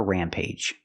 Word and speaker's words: rampage: Kong went on a rampage used a long a sound at the end for AG age Rampage we also have this